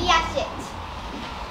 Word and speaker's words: yacht: Ladies and gentlemen, just when you thought it was safe to say, we have words which contain silent letters. I was sailing on my yacht.